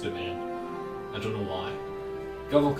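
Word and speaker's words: demesne: 30 larger demand domain it's like the mesni but it's pronounced domain i don't know why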